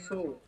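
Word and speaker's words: つ: সা সি সু সে সো তা লাইন বলেন তা। তা লাইন হ্যাঁ। তা চি চি সু সু তে তু। তে তো তাহলে এই যে চি এবং সু, এই দুটা ব্যতিক্রম।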